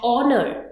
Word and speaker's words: honor: Dash honor. Again it starts with H but the H is silent when we pronounce it.